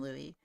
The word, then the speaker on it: Luis: Also, it's spelt Luis, but we call him Louis.